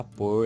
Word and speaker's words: por: Vejam que a pronúncia é exatamente igual, mas são palavras completamente diferentes.